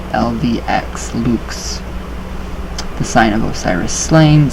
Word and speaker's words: LVX: the words they spell which is pronounced to rhyme with the word boots so and be like lvx Luc's the sign of Osiris